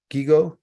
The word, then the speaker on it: GIGO: Gijo, is that how you say it? Gigo, Gijo? Gigo.